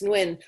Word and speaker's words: Nguyen: good vietnamese name yeah i think it's win like jones yeah i thought it was new right right i thought